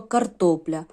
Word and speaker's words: картопля: і три голосних і слово картопля Карр то ля три склади наголос падає на другий і бачимо що L